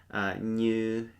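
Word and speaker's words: nyws: Now, this one was new to me from our when our friends Yiannis Kourou they wrote this lesson "new" n y w s "new". It is it has a different meaning besides this, but it can also mean to screw something on.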